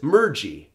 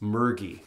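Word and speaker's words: mergi: oh it's to submerge so the word is Mirchi no no it's murky with a hard G sound so the iceberg will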